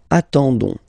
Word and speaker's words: attendons: nous, so O-N-S, okay, you don't pronounce the S, so you get only this on sound, okay, attendons, nous attendons, so we'll make the link between the two, la liaison, nous attendons, nous attendons.